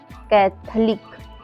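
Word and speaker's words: Catholic: ऐसे ही कैथलिक, कैथलिक में भी ओ के बाद एल आया हुआ है, एल के बाद आई आया हुआ है, तो यहाँ पे ओ साइलेंट है।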